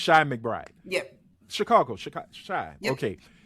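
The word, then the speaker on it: Chi McBride: His name is Is it- pronounced like Shy. Okay, so it's Shy McBride.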